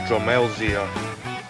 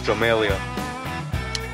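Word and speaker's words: Drumelzier: I was corrected that you don't pronounce the Z silent. So they Dromelzia. It's Dromelia.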